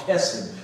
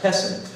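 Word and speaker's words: חסד: word for that it's called kessin or actually pronounced hessen but it's a guttural pronunciation it doesn't matter because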